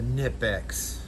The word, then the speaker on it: Knipex: The Knipex. Knipex. Just for you people that complain about me pronouncing it.